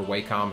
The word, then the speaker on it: Wacom: Um I think the newest uh Wacom or Waycom, however you want to pronounce it. I believe it's Wacom though, Cintiq Companions can do that, but I don't believe the Surface can.